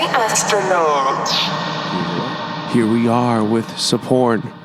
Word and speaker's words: Sophorn: Here we are with Sophorn. The H is silent. The H is silent, yes, indeed.